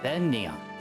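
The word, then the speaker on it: Begnion: Oh, it's pronounced Benyan. The G is silent.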